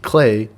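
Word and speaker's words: Klei: updates to games steve clay it's pronounced like play vancouver based in developer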